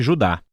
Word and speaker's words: Judá: é a carta de Judas ou mais precisamente Judá de acordo com a pronúncia do seu nome tanto em grego como em hebraico Judas foi um dos